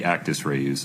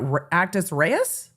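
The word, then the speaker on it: actus reus: Did you just say ruse, not actis rees? I uh vehemently disagree with that pronunciation of actis rees even if the court is correct.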